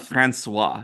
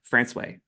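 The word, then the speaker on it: François: hand if anyone knows no it is not franois you would think it would be franois but it's not in fact this town is called franway uh Newan has quite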